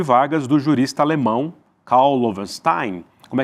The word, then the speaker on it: Loewenstein: Do Brasil sob Vargas, do jurista alemão Karl Lovenstein. Como é que fala a pronúncia boa em alemão? Lovenstein. Lovenstein. Ih, meu alemão tá péssimo aqui. 84 anos depois. Löwenstein.